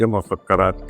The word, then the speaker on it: مسکرات: انہیں یہ ترک مسکرات کی عمارت میرے بچپن سنا ہے.